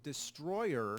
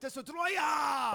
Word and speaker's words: Destoroyah: The name of the monster, surprisingly, isn't Destroyer. Oh, it's isn't it? Destoroyah!